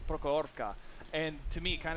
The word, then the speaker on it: Prokhorovka: You know, I bet Soviet's watching and he's thinking, no, Clutch, it's Prokhorka. And to me, it kind of sounds the same, but how you pronounce it is important.